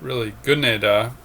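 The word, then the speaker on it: 끝내다: Good neda, it's pronounced really good neda, is an active verb that means to complete something.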